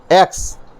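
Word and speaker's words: X: ये एक्स क्या है, ये इंग्लिश के अनुसार कॉन्सोनेंट है, लेकिन इसका उच्चारण इंग्लिश के अनुसार क्या हो जाता है, एक्स, ए से शुरू होता है, इसलिए यह वॉवेल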